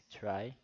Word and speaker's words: trie: Bom, uma árvore try, pronuncia-se try, é uma árvore usada para implementar tabelas de símbolos de strings, também conhecida como árvore digital ou árvore de prefixos.